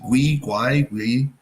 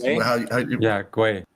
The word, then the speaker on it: Gwei: How do I pronounce it? Gui. I keep getting it wrong. The gas. Gwei.